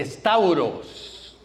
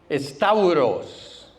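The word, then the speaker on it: σταυρός: La cruz en griego se dice con, empieza con ese. Estauros. Estauros. S t a u r o s stauros.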